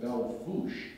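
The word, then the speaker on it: Belle Fourche: And now here I am near Belfourche, which is pronounced by the locals Belfouche for some reason, North Dakota, which says it is the true center of the nation.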